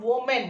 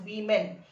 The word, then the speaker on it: women: this part is pronunciation it is not woman it is women so woman women okay child one child